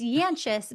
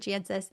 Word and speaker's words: Jancis: It's Jancis, but we don't pronounce it that way. We pronounce it Jancis.